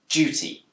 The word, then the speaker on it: duty: deer sound duty but it's also commonly pronounced with a j sound duty this change from deer